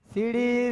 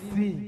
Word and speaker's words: শ্রী: সিড়ি সিড়ি সিড়ি সিড়ি সিড়ি সিড়ি সিড়ি সিড়ি সিড়ি সিড়ি। আমি কি সিঁড়ি সিঁড়ি বললাম? আমি কি বলেছি? শ্রী শ্রী। বলো শ্রী শ্রী। উচ্চারণ করো, তুমি ঠিক করে উচ্চারণ করো।